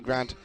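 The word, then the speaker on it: Ghrant: a grant is spelled g-h-r-a-n-t I've never seen Grant spelled like that before so not g-r-a-n-t like oh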